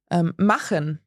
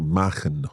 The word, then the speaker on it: machen: So it's a little like the h sound that we have in the Scottish word loch. Yeah, sehr Loch. gut. So let's give an example. Machen, To do.